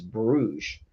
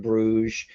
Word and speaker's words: Bruges: It's reprinted as Hamburg, but that game is Bruges.